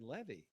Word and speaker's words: Levy: her great uncle and said levie and I said finally what Le you know what and she said yeah that's the way they pronounced it so that was